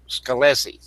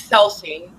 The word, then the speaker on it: Scelsi: Scallesie. No, it's Seli. Sce. Yeah, the C is silent.